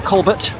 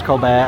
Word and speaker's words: Colbert: The entrance is round this way just past the theater that I affectionately refer to as the Colbert. Yes, I know it's pronounced Colbear.